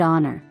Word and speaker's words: honor: that begin with vowels the first letter of the word honor for example is a consonant but it's unpronouncable despite its spelling the word honor begins with a vowel sound therefore we use n